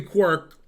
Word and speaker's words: Quirke: Okay, next game I'm playing Jeffrey Quirk, but it's Quirk with an E at the end, which I assume isn't pronounced.